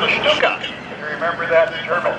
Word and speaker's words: Stuka: S-C-U-K-A, but pronounced Stuka.